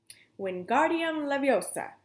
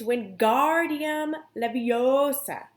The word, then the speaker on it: Wingardium Leviosa: having much more luck Wingardium Leviosa he shouted waving his long arm like a windmill you're saying it wrong Harry heard Hermione snap its Wingardium Leviosa make the guard nice and long you do it if